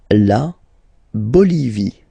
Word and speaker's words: Bolivie: La Bolivie. Okay, final not pronounced.